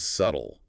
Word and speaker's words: subtle: It sees the word subtle, sees the B and thinks, "Okay, I should probably try to pronounce that." Right? And when you just listen, you might hear the sound, but you don't necessarily connect it to that bizarre spelling with the silent B.